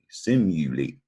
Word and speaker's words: simulate: is a verb and the trick to this word i think is the you and this word simulate the you says you all right there's a rule about you maybe you've overlooked so i like to remember when you says you you say simulate all right and the